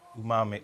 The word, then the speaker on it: umami: essentially makes your tongue be able to taste umami. I can never say this word. Is it properly. umami?